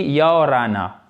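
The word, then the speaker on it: Ia ora na: basique qui est bonjour, qui se dit yaorana, si je prononce à peu près correctement. Yaorana, ça doit être ça, on roule le R.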